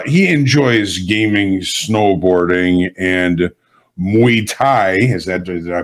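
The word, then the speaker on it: Muay Thai: to Futures uh he enjoys gaming snowboarding and mu Thai is that did I pronounce that correctly Kyle mu Thai yes sir all right and uh as of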